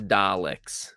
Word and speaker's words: Daleks: It is Daleks. Sorry, guys. Sorry to all the Doctor Who fans, especially Temporalson. I am sorry about that. I am sorry. Or Daleks?